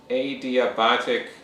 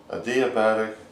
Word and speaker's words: adiabatic: is referred to as adiabatic lapse rate okay adiabatic and adiabatic adiabatic yeah okay you can pronounce it two ways but lately they're doing adiabatic okay what's that yeah